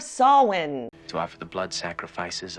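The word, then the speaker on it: Samhain: saying sam hayne instead of sawin to offer the blood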